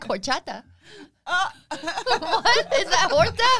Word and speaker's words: horchata: Or like, I like horchata. What? Is that horta? Horchata? What is the difference? Can you spell it?